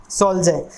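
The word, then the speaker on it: soldier: Very important meaning है सोल्जय। इसमें रै को प्रोनाउंस नहीं करेंगे क्योंकि रै के बाद कोई वाउल साउंड नहीं आ रही है।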